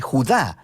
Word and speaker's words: Judá: la carta de Judas o más precisamente Judá de acuerdo con la pronunciación de su nombre tanto en griego como en hebreo Judá Era uno de